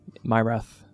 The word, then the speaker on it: Myrath: I remember their name myrath my wrath or my wrist uh I think it's pronounced like my wrath but it's just one word myrath like m-y-y-r-a-t-h I think